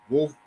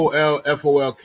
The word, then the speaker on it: Woolfolk: And speaking of Earth, Wind, and Fire, rest in peace, Andrew Wolf. How do you pronounce his last name? Andrew Woolfolk. Woolfolk. It's Woolfolk. Woolfolk.